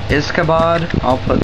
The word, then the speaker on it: Izkabod: Hey guys, Awesomeness257 here doing a review over a new mock called Izkabod.